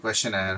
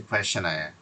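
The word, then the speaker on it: questionnaire: সো এটার উচ্চারণটা আমরা এভাবে কোয়েশ্চেনায়ার হয়, তো আপনার এখানে দুটো এন থাকবে। আর বানানটা একটু দেখেন, কোয়েশ্চেন আছে, কোয়েশ্চেন, তারপরে নাইডের মতো আছে, হ্যাঁ, নাইডে, কোয়েশ্চেন, নাইডে, মানে কোয়েশ্চেনায়ার উচ্চারণটা হচ্ছে কোয়েশ্চেনায়ার।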